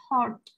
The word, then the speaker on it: heart: Heart là tim. Ở đây thì mình không đọc là hết hết nè, mình đọc là heart là tim.